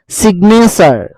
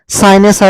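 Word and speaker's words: signature: যিটো সাইলেন্ট ৰাখিছিলো SIGN সাইন কিন্তু এইটো যিটো সাইলেন্ট ৰাখিব নোৱাৰিম এইকেইটা ৱৰ্ডত কিন্তু আমি ক'ব লাগিব সেইকাৰণে ৰেজিগনেশ্যন ঠিক তেনেকে ডেজিগনেশ্যন সিগনেচাৰ এইটো সাইনেচাৰ বুলি আমি ক'ব নোৱাৰো এইটো সাইনেচাৰ বুলি আমি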